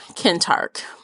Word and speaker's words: Kentarch: Tark can torch yeah the audiobook pronounced him kintark okay so that's what I'm rolling with um yeah I liked